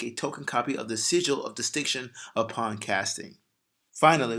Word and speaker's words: Sigil: up we have a sequel of Distinction I may have said it wrong Sigel Sigil of Distinction I need you